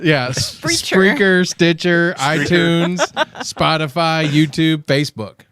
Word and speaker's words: Spreaker: Streaker. Yeah. Spreaker, Stitcher, iTunes, Spotify, YouTube, Facebook.